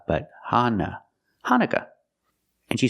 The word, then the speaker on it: Hanukkah: okay first pronunciation hanuka in American English we pronounce it Hanukah hanuka the second vowel is a short u sound uh like cup and up Han Hanukah not hanuka but Hana Hanukkah and she said Christmas